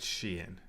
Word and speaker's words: Sheehan: You're right, Emmet Sheehan. I think I knew that was the correct way to say it. I just couldn't say it. That H was really getting me.